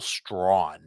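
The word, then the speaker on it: Strachan: Carolina Panthers sure Michael straw you cannot spell his name like it sounds it's spelled there's a c in there it's s r a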